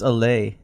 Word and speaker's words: Ale: It's two syllables. Emphasis on the second.